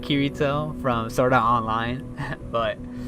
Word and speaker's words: Kirito: They used to call him, it's Kirito. Let's see what Kirito was gonna do today. Like that was funny. But I mean, he kind of does look like Kirito from Sword Art Online.